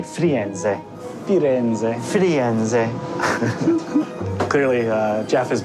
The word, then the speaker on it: Firenze: Once you go to Florence, you say Firenze.